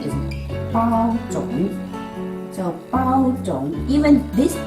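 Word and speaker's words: 包種: So don't say pu zhong. No pu zhong. Because if you say pu zhong, nobody will know what you want. Okay? So the original pronunciation is bao zhong.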